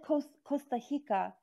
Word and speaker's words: Costa Rica: rem so i guess in portuguese r is like ha because you said costa hika and it's we say